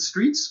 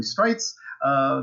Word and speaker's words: Streitz: strikes spell strikes my last name is spelled STR e I T Z most people pronounce it streets but it's really straights that's just one of